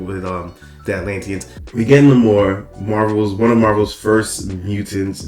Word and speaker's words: Namor: I love how they say it like that. Not Namor, which is also his name, but like Namor, like without love.